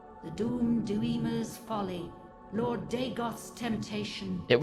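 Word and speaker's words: Dagoth: Lord Deegoth's temptation. It was Deegoth the whole time. The gods. I was saying it wrong for 31 hours.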